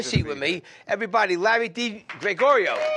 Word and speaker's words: DiGregorio: catch me it's Larry D Gregorio and it sounds just like it's spelled D Gregorio and then on Instagram